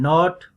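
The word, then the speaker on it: knot: KN initial अगर KN start में हो तो फिर K साइलेंट है, नाइट, नाइफ एंड नॉट.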